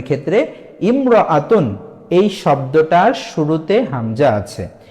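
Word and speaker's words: امرأة: বিষয় দেখেন উচ্চারণের ক্ষেত্রে ইমরতুন এই শব্দটার শুরুতে হামজা আছে এই শব্দটাকে যখন আমরা এককভাবে উচ্চারণ করব তখন হামজা যুক্ত করে উচ্চারণ করব যেমন কিন্তু এই ইমরতুন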